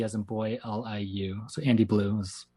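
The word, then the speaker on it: AndyBLiu: So Andy Blue is how I pronounce it.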